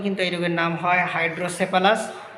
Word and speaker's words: হাইড্রোসেফালাস: মস্তিষ্কে যখন পানি জমে যায় তখনই কিন্তু এই রোগের নাম হয় হাইড্রোসেফালাস। কোন কোন জায়গায় দেখবেন হাইড্রোক্যাফালাস নামে উচ্চারণ করা হয়। তো এই হাইড্রোক্যাফালাস বা হাইড্রোসেফালাস। এই হাইড্রোসেফালাসে আমাদের কি হয়?